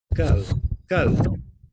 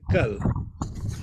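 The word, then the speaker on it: कल: If you say something like kitab or kal, yesterday, kal, the natural, if I was an English person without any awareness of Indian languages, I would have difficulty saying that ka without aspiration.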